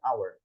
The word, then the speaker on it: hour: Kalau hour kita bacanya pakai tanpa h-nya disebutin. Jadi pakainya an hour.